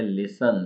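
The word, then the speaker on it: listen: रहेगी इसकी अब है लिसन लिसन मतलब सुनना टी साइलेंट है इसमें लिसन लिसन और लिसनिंग लड लाद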